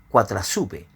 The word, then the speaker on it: Coatlaxopeu: En el catolicismo se estima que Guadalupe podría provenir del término nahuatl Coatlaxopeu, que se pronuncia Cuatrazupe, con lo que su valor fónico resulta parecido al de la palabra en español Guadalupe.